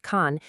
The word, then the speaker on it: 残: The character, pronounced Khan, is wild because it has three meanings all at once: remaining, cruel, and damaged.